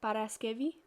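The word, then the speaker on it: Παρασκευή: now monday in the top left there is pronounced deftera tuesday is triti wednesday is tatarti thursday is pemti friday is paraskevi and then instead of writing saturday and sunday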